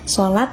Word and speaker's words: salat: Yang baku adalah salat, atau kita bacanya sholat tetap, tapi penulisannya adalah salat. Huruf shod dari bahasa Arab diserap ke dalam bahasa Indonesia dan disederhanakan menjadi huruf S saja.